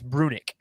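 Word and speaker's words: Brunicke: So a player that, from all reports, it's Brunick is how you pronounce it.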